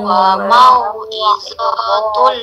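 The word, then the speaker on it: موعظة: Hadza bayanul linnasi wa hudan wa mau'izatul lil muttaqin. Nah, do-nya dibaca pendek.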